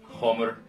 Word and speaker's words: hamr: called the Homer okay Homer sounds like hammer looks like hammer I'm using an old norse pronunciation of the word so Homer and the